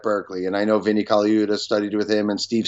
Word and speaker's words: Colaiuta: And it says, Vinnie Colaiuta says, is that Colaiuta? Am I pronouncing that right? I know the name. Colaiuta. Yeah. Vinnie Colaiuta.